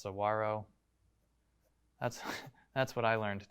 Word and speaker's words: saguaro: or whether it's that you learned that it's pronounced saguaro that's that's what i learned today i confirmed that yes it really is pronounced saguaro i was unsure of that as somebody that